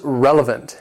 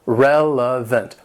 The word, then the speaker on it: relevant: Number 21 is relevant. It has 3 syllables and the stress is on that first syllable. Relevant.